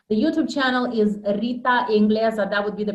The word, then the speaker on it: Engleza: in this interview the youtube channel is rita ingles that would be the pronunciation romanian and english is actually the word